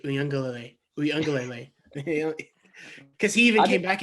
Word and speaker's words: Uiagalelei: himself in the mirror, and he's just saying, Uyunglele.